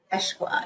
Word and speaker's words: Eshqua: It's spelled ESHQUA. Eschwa, It's yeah.